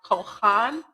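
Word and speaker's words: כָּהַן: And it is pronounced kohhan.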